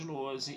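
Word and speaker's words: Lohse: Meu canal no YouTube é o Luozi. Luozi se escreve L-O-H-S-E, se escreve com Z.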